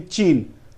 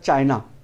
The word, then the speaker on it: Chin: nation is also actually Chin. Britishers calling that as China, but actually pronunciation is Chin.